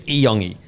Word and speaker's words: Iyongi: Trusted source that hasn't let me down before. So it is Iyongi.